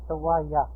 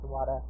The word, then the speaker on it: Sawaya: Sawaya, rather, not Sawada.